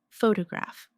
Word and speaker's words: photograph: Photograph. Now, photographer. Notice how the stress changes when the word becomes longer.